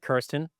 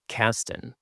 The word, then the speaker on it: Kirsten: Well, and so in Germany, people will pronounce it Karsten rather than Kirsten.